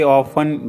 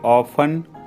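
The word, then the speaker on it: often: अक्सर जाता हूं आई ऑफें go there I ऑफें go there इसमें टी साइलेंट होता है ऑफ में वह मेरे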